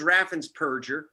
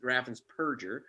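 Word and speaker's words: Raffensperger: show um but scumbag uh whose name is raffan's purger not burgers people mispronounced it really is raffins perger uh removed 198 000 people from the voter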